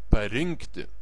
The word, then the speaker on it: parinkti: surinkti nurinkti aprinkti išrinkti the stress is is on in in parinkti surinkti nurinkti you stress the letter n nurinkti in theation in